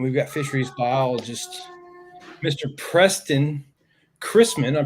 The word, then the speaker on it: Preston Chrisman: now live and we've got Fisheries biologist Mr Preston Chrisman I'm pronouncing that right aren't i y That's Right Preston Chrisman with us tonight and I have been looking